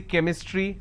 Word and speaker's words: chemistry: for example change but when I have the word chemistry CH becomes Cur sound so I say chemistry I say Chrome so